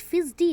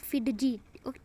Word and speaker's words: fidgety: FIDGETY ना, but here in this word D it silent. Okay, so we called it फिजडी नॉट फिडजी. Okay, इसको हम student pronunciation इसका correct है फिजडी.